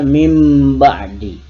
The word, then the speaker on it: min ba'di: Tulisannya min ba'di, bacaannya mim ba'di.